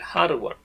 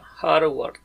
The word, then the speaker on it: hardware: se le llama así se escribe así y se lee el hardw esto es como una j hardw o sea es todo